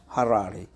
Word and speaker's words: Harare: Good pronunciation, Harare.